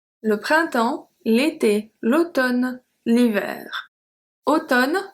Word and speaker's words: automne: Automne, so we say automne. We don't say automne. We say automne. It's just the N. We don't pronounce the M.